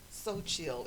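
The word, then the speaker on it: Xochitl: and her business is called So Chill. It's spelled kind of Spanish, like Xotchitl, but it's I forgot what the word means, but it's called So Chill Beauty Lounge, Okay.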